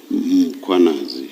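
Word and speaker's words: Mkhwanazi: The a is after the h.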